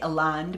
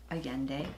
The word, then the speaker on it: Allende: Okay, I pronounced it wrong. I say Allende, but it's Allende. Allende.